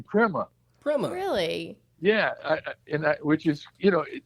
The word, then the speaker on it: Prima: in my research that even though the correct Italian pronunciation is Prima, he you know the South, you know New Orleans people. Yes. Yeah. They don't talk too good, as Right. Mac Rabanak would say. And so Louis pronounced his own name Prima.